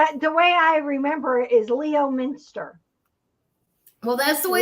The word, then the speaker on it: Leominster: another trip to lemon mist lemon lemon stir Leominster lemon Minster lemons what's my new name for your town lemon Minister um we the way I remember is Leo Minster well that's the way it's written but apparently